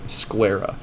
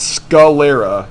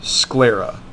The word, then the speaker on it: sclera: it's called the sclera scl e.r.a sclera not skull Lera sclera like two syllables um so was it